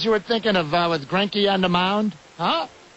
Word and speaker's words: Greinke: What were the chances you were thinking of with Greinke on the mound? Huh? Who a lot of people pronounce Grinke, even though it's an E, not an I.